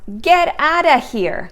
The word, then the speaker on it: get out of here: out of here well first of all it is pronounced get outta here get outta here and